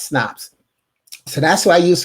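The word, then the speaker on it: Snopes: and snaps which people tend to think is pronounced snoop sometimes but there's only one s one o s n o p s e s snaps so that's what i use for my fact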